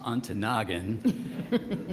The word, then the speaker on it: Ontonagon: I asked Secretary, could you confirm that Ontonagon is actually a very cold climate? She said, well, first, it's pronounced Ontonagon.